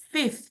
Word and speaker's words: fifth: Bukan five tapi fifth ya.